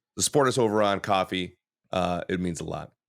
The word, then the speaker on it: Ko-fi: speaking of 90s movies we're on Kofi coffee Kofi coffee it's pronounced coffee it's pronounced coffee there's